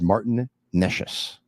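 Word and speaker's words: Martin Nečas: By the way, I received a message from someone who knows how to pronounce the name, and it is Martin Neshes.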